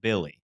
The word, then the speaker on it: Bille: In the opening credit for this, pronounced Billy.